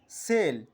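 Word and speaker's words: cell: যেমন আমাদের এখানে আমরা দেখতে পাচ্ছি সিই ডাবল এল, অর্থাৎ হলো সেল। এটাকে আমরা কেল কিন্তু বলছি না।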